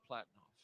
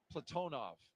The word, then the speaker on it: Platonov: Ross Cosmos Cosminaut Alleg Platinoff, Platonov. I corrected my pronunciation yesterday and I slipped back into Americanizing.